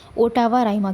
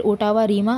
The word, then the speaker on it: ottava rima: हम कह सकते हैं ओटावा राइमा के बारे में। ठीक है? ओटावा राइमा या फिर ओटावा रीमा आप जो भी प्रोनाउंस करते हो। वैसे ओटावा राइमा I think pronounce किया जाता है।